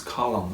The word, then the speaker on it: Colm: It's column, like a column.